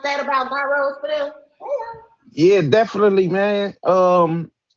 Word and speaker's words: gyro: That is how we pronounce it in Chicago. However, the pronunciation from the Greeks, Pyrex, It's a euro.